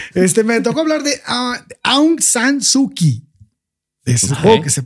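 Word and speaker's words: Aung San Suu Kyi: okay Bueno entonces este me tocó hablar de a sanuki es que se pronuncia así pero es un personaje interesante porque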